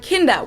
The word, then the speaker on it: Kinder: But in most German words that end on ER or AR, Germans don't actually pronounce that R, but just say ah, like in the word Kinder, which means children, Kinder.